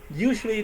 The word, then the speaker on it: usually: Where is the stress? Yes, the first. Usually. Okay, usually, right? So stress on the first, right?